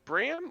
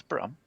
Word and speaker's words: Brum: Hope's Choice quick question is it brm or Brum it is Brum and it's spelled with a u and not an a correct okay well that